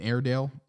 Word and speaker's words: Airedale: dog other than an airedale air i think it's air as in like air and then dale so i think i'm